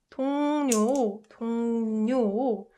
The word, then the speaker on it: 동료: So 동료 means coworker, and so it's pronounced n. L gets replaced with n when it's combined with 응 sound for the comfort of our pronunciation.